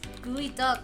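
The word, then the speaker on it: geoduck: some goo why else would they call it gooey duck why is why is gooey duck pronounced gooey duck because it comes from oh in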